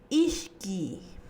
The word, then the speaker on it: ishki: Por ejemplo, ishki, ishki. La pronunciación va a ser con la vocal I alargada. Pero si vemos en la escritura, tenemos una vocal y una consonante Y que están juntas al finalizar la palabra.